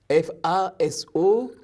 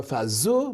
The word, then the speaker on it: Faso: Et Faso, F-A-S-O, là aussi on ne dit pas Faso, mais Faso, qui veut dire la terre ou le pays.